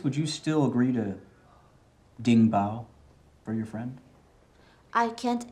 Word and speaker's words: 顶包: 顶包， Oh, 顶顶pan, 顶包， Ding bao.